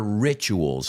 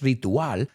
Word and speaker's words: ritual: sus ritos, and their rituals. And I want you to pronounce that word with me. No es ritual, ritual. So you notice there were